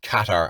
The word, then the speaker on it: Qatar: based out in uh qatar or qatar as he endlessly tells me it's pronounced he's in a